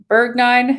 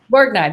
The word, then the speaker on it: Borgnine: saw twitter um where ernest how do you say his last name bergnine is that ernest borgnine borgnine that's it yeah he's passed but